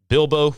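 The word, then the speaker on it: Bilbo: is kind of weird billbo rhymes with dildo oh wait so are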